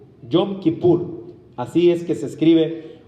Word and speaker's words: Yom Kippur: Y esta fiesta es la fiesta que nosotros conocemos en hebreo como el Yom Kippur. Yom Kippur. Así es que se escribe, o es una transliteración de la palabra hebrea.